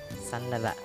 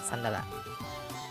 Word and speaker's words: sandala: Aya sandalmu sandal AKMU sandal tinggal tambah ah Sandala tetapi dengan pengucapan yang ada cepat Sandala Kemudian sarung bahasa Bugis